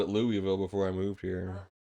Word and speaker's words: Louisville: I always called it Louisville before I moved here no you're stupid it's okay it's loal you're all wrong it's just like it's